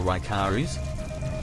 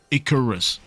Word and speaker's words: Icarus: Oh, what the So, is it pronounced Icarus or Raicharis? Definitely Icorus.